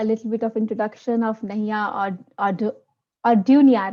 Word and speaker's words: Nahia Orduna: And for my viewers and audience here, a little bit of introduction of Nahia Ordunia, right, Nahia? That's how you pronounce, Yes, right? Nahia Orduna, that's it.